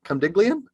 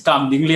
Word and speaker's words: Kam Dingli: from delhi okay uh my name is kam dingli and it might sound a little bit hard to pronounce but you can call me as ding the middle one d ing okay yeah i have